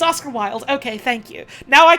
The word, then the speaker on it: Oscar Wilde: His name is pronounced Oscar Wilde, right?